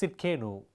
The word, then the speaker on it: Tsidkenu: இந்த வார்த்தை இருக்கிறதிலே சற்று கடினமான ஒரு வார்த்தை, ப்ரொனவுன்ஸ் பண்ணுவதற்கு, உச்சரிப்பதற்கு ஒரு கடினமான வார்த்தை. ஜெகோவா சிட்கேனு.